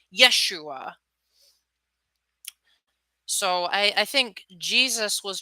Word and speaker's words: Yeshua: Not only did I know that, but there's actually, if you look at the Aramaic pronunciation of Joshua, they didn't have a J in their language, so it was pronounced more like Yeshua.